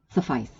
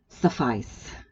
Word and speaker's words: suffice: gonna read it now think about how you pronounce this word because most people mispronounce it but i went to the wrong entry i don't want to go there suffice whatever you heard is wrong suffice right suffice it to